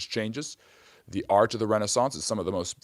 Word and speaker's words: renaissance: And the reason I'm pronouncing it renaissance is because re the renaissance is indeed a French term.